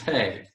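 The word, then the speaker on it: פ: the dot and that's pay this one's pay that's pay without the dotted stay okay gotcha without it is spay like an f and okay okay and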